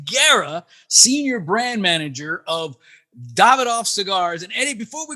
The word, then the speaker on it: Davidoff: heard Davidoff I've heard Davidoff what is the pronunciation my brother Davidoff Davidoff yes please put that on repeat because